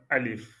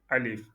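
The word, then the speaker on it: ألف: Euh c'est un trait vertical et ça c'est lit par Alif. Alif. Il y a la langue qui touche un peu le palais et ça revient très vite et ça se prononce par Alif comme le montre l'image alif.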